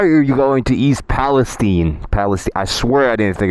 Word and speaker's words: Palestine: Yes, it's pronounced Palestine.